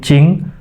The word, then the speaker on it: jing: Tulisannya jing kita bahasanya bacanya agak ke huruf C. Jadi, cing itu adalah esensi.